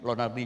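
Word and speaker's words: Lonardy: Jadi kalau nama saya Lonardi, Y di belakang tapi bacanya I, Lonardi.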